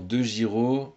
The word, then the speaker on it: DeGiro: Tu peux aller voir sur Bourse Direct ou sur Bink, BINCK, ou sur DeGiro. Donc DeGiro, ça s'écrit DEGIRO.